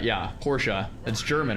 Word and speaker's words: Porsche: You're saying it wrong still. Porsche is two syllables.